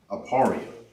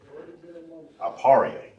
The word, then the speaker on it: Ephraim: Now how you say Ephraim in the ancient Hebrew is pronounced Aparia. Aparia and that means I am fruitful.